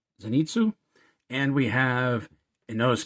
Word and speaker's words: Zenitsu: tanjiro we have uh uh I can never pronounce his name zenitsu zenitsu and we have a nose K so we